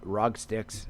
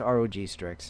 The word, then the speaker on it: ROG Strix: about the uh the rock sticks uh screen replacement and um you know I I say it like that on purpose because I'm not a gamer and uh whatever yeah it's Rog strix and uh you know